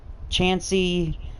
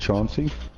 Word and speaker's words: Chauncey: The longest name in history of NFL is Chancey Gardner-Johnson. Hit power B, zone coverage B-, pursuit C is number 1 on the list. That would be a good pickup right there. I believe that's pronounced Chauncey.